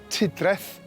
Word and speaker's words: Trefdraeth: ..by listening to their pronunciation of.. ..the town's name, Trefdraeth. They call it 'Tudrath'.